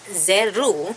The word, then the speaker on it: Zeru: And so there is their world, which is Zeru, that is how it's said in the common tongue.